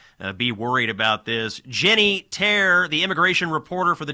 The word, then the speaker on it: Taer: Jenny Taer, the immigration reporter for the Daily Wire, find her on X at Jenny S. Taer, and that's T-A-E-R. Not a traditional pronunciation, but not traditional spelling.